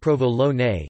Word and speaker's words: Provolone: Provolone, pronounced provolone, is an Italian cheese.